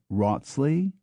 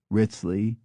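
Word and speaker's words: Wriothesley: Cowtrey, Cootry, and Coughtry, and Wriothesely, which can be Wrotsley, Ritsley, Risley, Rithley, or Riothesley.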